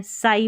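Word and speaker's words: sigh: तो आई के बाद यहाँ जी एच है, तो जी एच का उच्चारण नहीं है, साई पढ़ेंगे इसको, जी एच का उच्चारण ही नहीं हो रहा।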